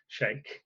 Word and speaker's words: Scheich: I met his great-great-granddaughter, I think, at an event, and she told me I was saying it wrong. So I think I pronounced it right this time, Scheich.